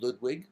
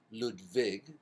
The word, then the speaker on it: Ludwig: that his first name Ludwig we can call him Ludwig or we can use the German pronunciation ludvig the W becomes a V and his middle name